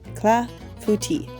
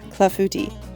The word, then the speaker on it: clafoutis: traditional French dessert a CLA futi I have to sometimes break it up into the syllables clafouti um again I apologize